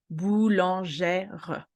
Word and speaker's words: boulangère: We have a little, specificity, which is the accent grave, which is the sound E. Boulanger will become boulangère.